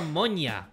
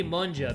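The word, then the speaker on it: もんじゃ: Is it monja or monya? Thanks for hanging with me, man. Well, it has to be monja because Japanese, they pronounce the J.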